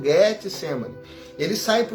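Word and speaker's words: Getsêmani: Jardim do Getsemani né porque a pronúncia correta é essa Jardim do Getsemani ele sai para o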